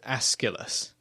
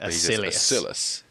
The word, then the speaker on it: Aeschylus: And I believe it's pronounced Aeschylus, but he calls it Acilius.